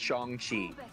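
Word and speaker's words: Shang-Chi: Oh, like a real his name is pronounced Shongi.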